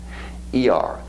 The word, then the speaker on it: Iyar: You spell it I-Y-Y-A-R. Iyar.